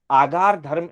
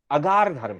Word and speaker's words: अगार: सामान्य व्यवहार में हम आगार धर्म ऐसा भी उच्चारण करते हैं, परंतु आगार धर्म ऐसा शब्द नहीं है। अगार धर्म है, आ नहीं है, अगार धर्म।